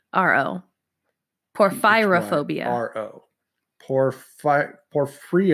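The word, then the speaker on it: porphyrophobia: poor pyrrha phobia and your hint is ph y so it's poor fyra phobia poor fyra phobia sorry ph y Oh what was it P o r ph y ro poor fyra phobia oh poor fight for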